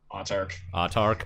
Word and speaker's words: Autarch: Is that how you would pronounce that? Autarch.